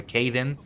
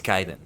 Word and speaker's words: Kaiden: You know, sometimes people see it and they're not sure how to pronounce it, whether it's Kaiden or Kaden. It's Kaiden. It's Kaiden.